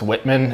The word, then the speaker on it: Wittmann: It's pronounced Wittmann, but it's Whitman if you're English.